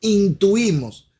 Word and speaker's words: intuimos: Lo tercero es que lo que nosotros intuimos, déjenme pronunciarlo bien, lo que nosotros intuimos, no lleva S, intuimos es parte de lo que Dios ha revelado.